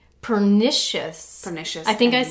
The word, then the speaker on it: pernicious: So we are talking right now about our second type of anemia, which is called pernicious.